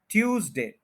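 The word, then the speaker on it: Tuesday: प स्ट्रेस है जैसे ट्यूसडे इसमें जो एस है उसको जड बोलेंगे हम ठीक है ट्यूज जड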